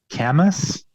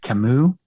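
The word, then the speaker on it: Camus: Uh it's it sounds like Camas, but his name is pronounced Kimu.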